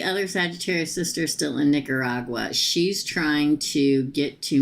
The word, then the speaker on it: Nicaragua: let me say that again cuz I didn't pronounce it corre corly okay uh is the other Sagittarius sister still in Nicaragua she's trying to get to Miami also I